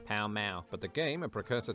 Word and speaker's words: Pall Mall: Palamaglio, or Pall Mall, the pronunciation of which can still be heard in London today, when locals pronounce the street name of the same name, Pall Mall.